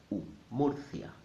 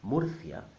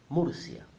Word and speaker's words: Murcia: Again, the spelling will confuse the English speaker, but you must remember that when you see the letter U in Spanish, normally will sound like a double O. Murcia, Murcia.